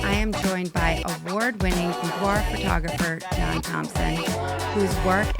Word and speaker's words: boudoir: So in the traditional sense, if you want to get all fancy and use the French pronunciation, it's boudoir. But, I use boudoir because I don't say croissant for croissant.